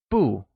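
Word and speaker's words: 不: most common one is Bou which is pronounced with a falling tone we're already familiar with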